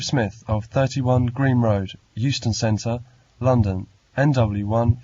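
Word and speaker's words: Euston: yes it's Steve Smith of 31 Green Road Houston Center London NW 4 R sorry I didn't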